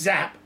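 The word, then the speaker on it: Giáp: the general vonian zap giap pronounced zap he did The Impossible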